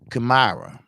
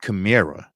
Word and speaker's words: Kamara: Cause like my daughter name is Kamara, not Kamira, but it means an unrealizable dream.